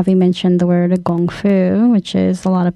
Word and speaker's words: gongfu: it is how they mentioned the word of gongfu which is a lot of people more recognized more as kungfu I think and if they think of martial